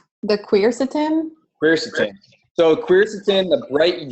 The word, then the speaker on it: quercetin: And it's because of the Amy Morgan, how do you pronounce that word with the Q? The quercetin?